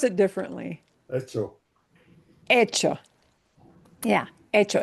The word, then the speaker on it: echo: Hecho. Yeah, hecho. It looks like echo, the spelling of the English word, but it's pronounced hecho.